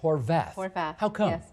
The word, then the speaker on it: Horwath: just get it right you spell it horwath but you pronounce it horvath that's because that's the way i was taught to pronounce it my dad was a czechoslovakian and we pronounced the w as a v tell me about that